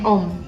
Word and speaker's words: Ohm: fold er hambatan satuannya om kalau mau tulis dalam Simbolon begini boleh atau kita tulis begini juga boleh Ohm dibacanya ya oke itu adalah hukum Om kita cobain di contoh